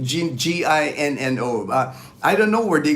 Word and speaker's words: Gino: know it's like G as long as you call me Gino you know I'm cool